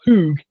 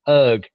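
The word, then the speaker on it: Höög: It's not Hoog, it's Herg. Spell it right. Is that actually how it was meant to be said? Yes. Herg. Jonas really? Herg. It's O with it's two O's with umlauts on it, so it's Herg rather than Hoog.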